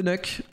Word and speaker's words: Nuke: C'est parce que sur Nuk, moi je dis Nuk les gars, je sais qu'il y en a qui disent Nuke et que ça se prononce Nuke, mais moi je dis Nuk frère.